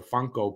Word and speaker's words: Funko: video by the way i called it a funky pop it's a funko pop so but i'm a